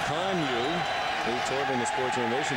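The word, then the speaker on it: Kanuck: K-A-N-U-C-K, pronounced Conyu.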